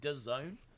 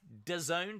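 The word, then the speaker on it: DAZN: US then it's on d-a-z-n which I think is pronounced the Zone I think it's pronounced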